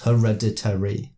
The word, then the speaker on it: hereditary: said I was like wait a second it's five syllables and then they're like no it's not it's four syllables but even then oh there's five yeah it's five syllables yeah CU that's how it's